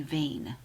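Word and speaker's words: wen: would be accusative so my correct answer would be vain rhyming with Dane the rest you're on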